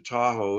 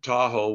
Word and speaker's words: Tahoe: lake and of course anglo-americans heard the first two syllables to owl and that kind of got turned into tahoe which did rhyme with washoe and that's how uh